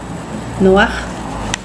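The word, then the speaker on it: נֹחַ: Bueno, el nombre Noé es una nun y un he noaj. Noaj se pronuncia en hebreo y significa consuelo. Noaj.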